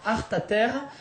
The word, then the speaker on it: Alta Terra: Alta Terra, ça veut dire donc les hautes terres, mais ici dans la vallée, Alta Terra, ça se prononce Arta Terre et ça veut dire autre terre.